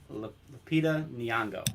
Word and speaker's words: Lupita Nyong'o: Lupita Nyong'o, I think is how it's said. Lupita, yeah, I know. I mean, the first name's Lupita, Lupita, but yeah, Lupita Nyong'o.